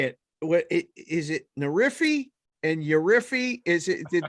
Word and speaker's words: Nerfy: say it correctly so imagine a nerf gun right nerf gun i know you know what that is and then just add a why the end of it nerf feed oh